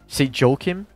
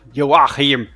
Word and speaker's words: Joachim: know like people in the United States say Joachim. Oh God. And then like places that speak Spanish say Joaquin, because his name is completely pronounced differently everywhere. And I'm German. I call it very hard. Joachim.